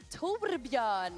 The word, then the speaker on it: Torbjörn: Torbjörn.